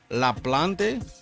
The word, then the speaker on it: LaPlante: another life featuring courtney laplante right that's how you say it la plante she's she's spanish courtney